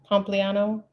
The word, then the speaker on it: Pompliano: Pompliano. Yeah, thank you for pronouncing that for me.